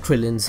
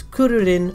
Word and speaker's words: Krillin: cute and round, like Krillin's head. Kuri Kuri can also mean bold. Although Krillin's name is officially written as Kulilin, it is usually pronounced as Kuririn or Krillin, as it is also